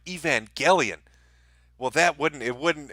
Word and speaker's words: Evangelion: Neon Genesis Evangelion see I said it right Evangelion well that wouldn't it wouldn't impart the message